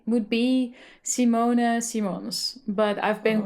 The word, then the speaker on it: Simone Simons: Um the Dutch way to pronounce my name would be would be Simona Simons, but I've been called many different variations Simona Simons.